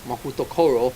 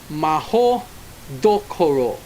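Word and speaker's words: Mahoutokoro: the Japanese Wizarding school mutoro which is actually pronounced Maho Doro Rowling continued The Stereotype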